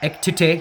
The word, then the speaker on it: Ekitike: Ekitike or Ektita, whatever. Just pronounce it correctly. Ekitike, yep. Ekitike.